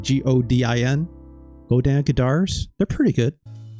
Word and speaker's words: Godin: It's called Godin, like Godin.